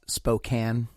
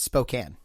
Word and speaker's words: Spokane: That's Spokane. It's not pronounced Spokane.